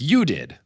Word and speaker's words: Judith: Pronounced Okay, it's spelled Judith, but it's pronounced like you did.